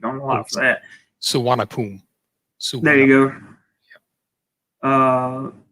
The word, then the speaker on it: Suvarnabhumi: I don't know how you pronounce it. And I get picked on a lot for that. Suvarnabhumi.